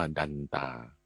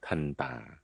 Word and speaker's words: ทันตา: ต เต่า สระ อา ถ้า อ่าน ตาม ระเบียบ ของ ภาษา มคธ ก็ อ่าน ว่า ดันตา หรือ ทันตา แปล ว่า ฟัน ฟัน เนี่ย